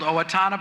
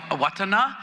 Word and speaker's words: Owatonna: from Mankato and there's like a place called Owatonna but it's really called awatana that's the way it should be pronounced we just love to bastardize names in